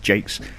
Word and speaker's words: Jakes: on the bridge Jack well Jake's as I've been reliably informed it's pronounced Jake's and Fenrir I'm going